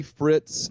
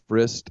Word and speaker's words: Fritz: to Langley for its it's name is Willie Fritz I've been frist I'm sorry I would